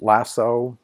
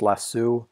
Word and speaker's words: lasso: using this penalty is also called lasso or sometimes pronounced less su sometimes the word is